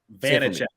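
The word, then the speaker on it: Vaněček: Vitek. Vanacek. Like Vanacek. Check.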